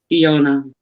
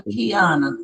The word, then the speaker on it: Kiana: Is it Kiona or Kiana? Kiona. Okay. Yeah. I've been calling her Kiana. Well, it's I thought it was Kiana. That's what it's spelled like that.